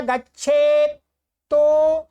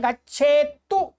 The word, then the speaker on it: गच्छेत्तु: पदमेकं न गच्छेत् तो यदीच्छेत् शुभमात्मनः। ठीक है, इसको कैसे बोलेंगे, पदमेकं न गच्छेत्तु, ये दो तय गच्छेत्तु।